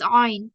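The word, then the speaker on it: ع: If it comes from the middle, that is ayn, and we do not need to get confused with that. So I'll just highlight it again. Ayn, sound which is pronounced from the middle of the throat.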